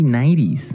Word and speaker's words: nightie: Now, the pronunciation is interesting because the first 5 letters are night. Right. Right? But you don't say night. You don't say nighty. You say nighty.